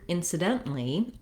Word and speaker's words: incidentally: a t sound then when we change to incidentally you can hear how the rhythm is different and the vowels are different that's because we're stressing the dent syllable in incidentally so i'm doing two